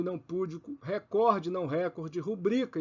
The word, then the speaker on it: recorde: púdico é pudico não é récorde é Record recorde é a pronúncia do inglês no português é recorde assim como são proparoxítonas